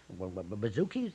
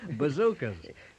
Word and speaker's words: bazookas: Getting the hang of these new, bazookies, they started coming. Bazookas.